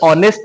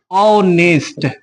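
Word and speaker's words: honest: ये सवाल कौन सा ये जो ऑनेस्ट है ये तो स्टार्ट है किससे कंसोनेंट लेटर से इसके पहले होना चाहिए ए लेकिन नहीं होगा हम लोगों को मतलब है किससे साउंड से इस बात को हमेशा याद रखना हमें मतलब है साउंड से और साउंड कौन सा है तो वोल साउंड है वोल साउंड मतलब ऑनेस्ट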